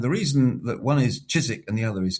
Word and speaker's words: Chiswick: the other is Keswick is that Chiswick is the classic English change from k to ch. And in the north, thanks to the Vikings and bringing the Scandinavian pronunciation, cheese stayed with a with a hard K sound.